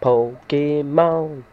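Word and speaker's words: Pokémon: No, that was wrong. That was wrong. It's Pokemon. That's better. Gotta say it right.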